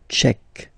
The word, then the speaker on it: Tchèque: La République tchèque. So remember, Q-U-E, K, Tchèque. La, and then here as well, République.